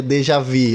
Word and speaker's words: déjà vu: A pronúncia certa seria déjà vu, é uma palavra em,